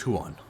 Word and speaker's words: Juan: willing to answer questions my name is huan okay h no no h you spell that for me ju yeah j u a n ju a pretty good